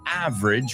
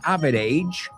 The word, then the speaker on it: average: you do on an average weekend. Vamos a pronunciar esa palabra porque no es average, sino dos sílabas, porque nos comemos una.